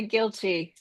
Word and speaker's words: Kilty: You actually say it with more of an e, which is proper. Um, I don't. Okay. I don't I don't say my name properly. Let me know how you want it said. It's I I usually just say guilty.